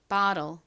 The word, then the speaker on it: bottle: 미국식 원어 발음으로는 이 O가 O보다는 I에 가깝게 발음이 됩니다. 그리고 끝에 TTLE는 low과 같이 발음된다고 말씀드렸죠. 그래서 이 단어의 미국식 원어 발음은 bottle입니다. 발음 같이 해볼게요. bottle, bottle.